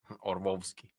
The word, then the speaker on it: Orlovsky: Orlovsky. You don't pronounce the L, remember?